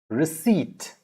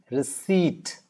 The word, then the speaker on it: receipt: raspberry then you have receipt not received it's not p receipt receipt all right with that